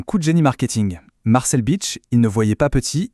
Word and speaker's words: Bich: Et il a très vite compris qu'à l'international, son nom de famille, Bich, prononcé avec un accent anglais, ça sonne un peu comme une insulte assez connue.